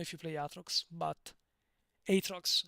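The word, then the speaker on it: Aatrox: you play Atrox, but Atrox, and sorry, Atrox is in Italian. Atrox, I I pronounced it the Italian way, but Atrox has transition animations.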